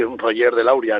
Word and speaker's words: Roger de Lauria: para empezar no bueno en castellano sí Roger de lauria no en otros idiomas tendría otra pronunciación pero sí está biena